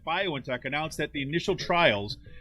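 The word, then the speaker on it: BioNTech: and its german partner violin tech i guess is how you say it bio in tech announced that the initial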